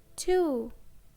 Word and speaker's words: two: Answer, to, and sword. In these words, letter W is silent. Answer, W is silent. To, W is silent.